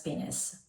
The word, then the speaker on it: Pinnace: I checked Google, okay, and this is pronounced as Pinnace by Fragrance World.